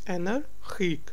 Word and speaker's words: energiek: Yes, it's energiek. Because G is the word, the second part of the word is starting with G, so it's G.